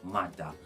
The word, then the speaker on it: mada: Instead of mother, it would be pronounced mada.